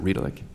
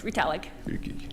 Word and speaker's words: Ritalik: Dr. Riedelick, am I pronouncing that correctly? Is it Riedelick? Very close, Ritalik.